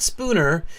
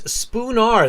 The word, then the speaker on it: Spoonar: Uh 1650, not Spooner. It's Spoonar.